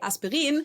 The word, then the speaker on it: Aspirin: If you've ever taken Aspirin, or in German, we would say Aspirin, you've definitely come across this logo by the company.